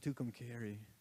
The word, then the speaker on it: Tucumcari: wrote this song and i didn't know how to pronounce it so i rhymed it with the word sorry which you'll hear shortly and then i found out you pronounce it tucumcari and i just like